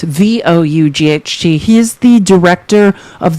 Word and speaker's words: Vought: Russ Vogt is spelled Vought. His name's Russell Vogt, Vought.